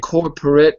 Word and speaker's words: corporate: Instead of corporate, let's say maybe it's better to say corporate. Corporate. Corporate. Good. So, I'm actually going to I'm going to get rid of a syllable there.